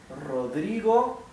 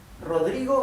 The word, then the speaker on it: Rodrigo: given name F okay Rodrigo is my family name good um see how the first R is pronounced R hard R this r in the middle is not doubled it is it's not